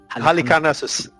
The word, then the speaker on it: Halicarnassus: How do you pronounce it? Halicarnassus.